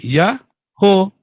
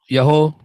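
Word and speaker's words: יהוה: Maka ini bacanya apa? Yaho. Yaho. Ya kan? Memang itu Pak bacanya, Pak.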